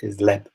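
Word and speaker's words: леб: Leb is the word for bread, and it ends in a B when you write it, but you pronounce it like a P because it's at the end of the word.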